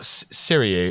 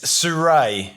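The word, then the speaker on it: Sirui: Is it not Siriu? It's Sirie. It's Surrey. Yeah, Surrey. the Chinese. Okay. It's a Chinese. I forget what word it is in Chinese, but yeah, Surrey.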